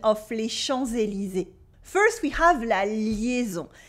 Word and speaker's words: les Champs-Élysées: There are several things going on with the pronunciation of les Champs-Élysées. First, we have la liaison. Here, the S that is supposed to be silent in les champs, without anything after, becomes a Z sound because we have Élysée after with un E in French.